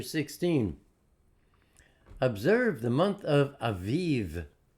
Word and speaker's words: Aviv: observed the month of Aviv get the B it's pronounced like a V spell it with a V I've even observe the